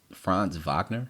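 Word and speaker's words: Franz Wagner: almost dropped 40 uh oh and they have France Wagner too or France Vagner that's how you say his name anyway 19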